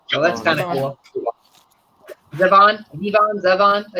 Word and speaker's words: Zevon: to the song Werewolf of London by Warren Zevon. Or Zevon. So that's kind of cool. Zevon.